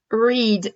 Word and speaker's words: read: Read au prétérit devient read. Il se prononce comme la couleur, mais il s'écrit comme quand il est à l'infinitif ou au présent.